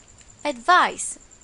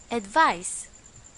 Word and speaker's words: advice: and its pronunciation is advice remember it's an S advice the second one is